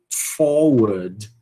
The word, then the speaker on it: forward: Forward. Forward. Né? No sotaque rótico vai ser forward.